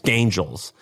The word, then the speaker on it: Gaingels: If you Google, it's spelled Gaingels, like Gain, like Gain, and then Joels, Gaingels.